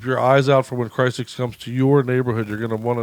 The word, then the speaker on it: Crisix: They pronounce it Crisix, by the way, so I'm not sure if I've been just saying it wrong all this time because I love them.